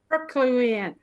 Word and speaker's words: Herculean: Herculean? Herculean. I can't do any better than you. I know, I got us all messed up. Come on, Gary, you're a Toastmaster. Herculean.